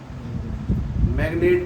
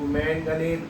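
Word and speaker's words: manganate: क्या पढ़ोगे क्रोमियम को क्लोमेट पढ़ते हैं मैग्नीशियम मैगनेट पढ़ेंगे मतलब एक minute मैगनेट spelling M ए एन जी ए एन ए एस होती है ना तो मैनगनेट पढ़ेंगे मैन गन एट ठीक है तो इसको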